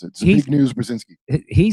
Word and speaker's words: Zbigniew: Remember what Zig Zbigniew Brzezinski said, who was the advisor to Jimmy Carter. He started the Trilateral Commission. He's the father of uh Mika Brzezinski on Morning Joe Ball. And uh Zbigniew, I think it's how you pronounce it.